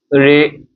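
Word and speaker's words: regardé: So regarde, past participle of regarde means to look at or to see. Okay, or to look. Regarde. So this accent is pronounced as a at the end. Okay, ay.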